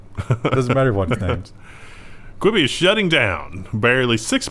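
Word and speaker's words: Quibi: thing oh yeah absolutely kibi queebi what do you think i thought i was always pronounced it chibi i thought it was a quibby at least based on the advertisements i've seen oh have you actually heard it spoken yeah i think it's quibby i think it's gone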